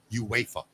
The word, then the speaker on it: UEFA: It's UEFA. Oh, is that what it is? UA pronounce it UEFA.